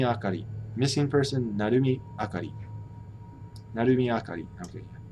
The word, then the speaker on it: Narumi: Narumi Akari. Okay. I think I said it wrong in Japanese. Because the umi, naru, umi, threw me off. It's really just Narumi.